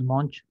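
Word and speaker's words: Monge: conoce como dirección de monje o dirección característica entonces este vector define una dirección conocida como dirección característica ese monje lo que es mons la pronunciación correcta pero entonces tenemos es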